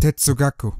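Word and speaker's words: 哲学: The correct Chinese term for philosophy, 哲学, is a late 19th century import from Japan, where it is pronounced tetsugaku.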